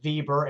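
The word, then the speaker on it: Weber: Compare the organizations of Andre Fail, Frenchman, and uh Max Bieber. By the way, that's spelled web, but pronounced Bieber as in violin.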